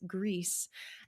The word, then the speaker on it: Gris: Forum post say that you can pronounce it as Greece and I was like